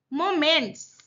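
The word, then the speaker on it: momentous: मोमेंट्स, बहुत महत्वपूर्ण। इट वॉज ए मोमेंटस decision. मोमेंटस, देखो TOUS है इसलिए मोमेंटस है।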